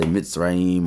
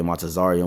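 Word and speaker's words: מצרים: Okay, and in Egypt, some people say Mitzrayim or Matazarium. Okay, Matazarium would be the correct way to say it in the Hebrew, which is how you say Egypt.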